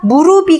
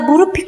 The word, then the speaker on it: 무릎이: 그럼 닫힘 어떻게 됩니까 무릅이 가 아니고요 그대로 받침이 넘어가니까 무릎이 나 무릎이 까져 써 이렇게 말해야 맞아요 그 대부분 어때요 무릎